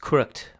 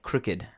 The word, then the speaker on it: crooked: Crooked, another common word which is the opposite of not straight, is not pronounced crooked but crooked.